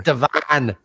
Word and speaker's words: Devon: Would you like to guess how we pronounce that, Simon? I think you have told me, but I think I've tried to strike it from my memory. Devon. Yeah. It's Devon, people. Devon. There ain't no Devon in Chicago.